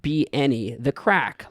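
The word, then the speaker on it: craic: mid 20th century and given its Gaelic spelling cuz it's spelled c r a i c uh a disposition a state of being a sin to not be any the crack like many quintessential Irish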